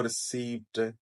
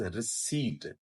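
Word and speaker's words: receipt: people miss pronounce it यह हम पढ़ते हैं इसको रिसीप्ट जिसको रिसीप्ट रिसीप्ट से हमने रिसेप्ट कर दिया रिसेप्ट से हमने रसीद कर दिया यह नाना रिसेप्ट है ना रसीद है दिस इज रिट प इ silent रिट and then we have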